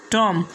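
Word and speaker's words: tomb: Silent रहेगा। जैसे पहला वर्ड्स लिम, दूसरा वर्ड है कॉम, तीसरा वर्ड है टॉम और चौथा वर्ड है बॉम्ब, इसके बाद में थम, उसके बाद में क्लाइम।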